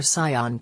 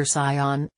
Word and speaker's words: Saiyan: He said the phrase Super Saiyan, but instead of making the first syllable of the second word sounding like say, he pronounced it like sigh.